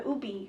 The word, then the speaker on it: ube: and you have the ube, right? Mm-hmm. Is that how you say ube? Yeah, so we pronounce it ube, but ube.